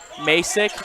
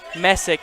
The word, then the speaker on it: Messick: Masick at the top of the key. Messick, excuse me for the bad pronounce.